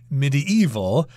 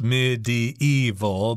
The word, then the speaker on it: medieval: pronounce some people say medieval which is four syllables medieval but I tend to kind of scrunch those two syllables together and just say medieval three syllables that takes us to